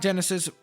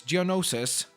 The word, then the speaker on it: Geonosis: just call it that I know it's not Genesis it's Geonosis is how you pronounce it I'm pretty sure but again I'm doing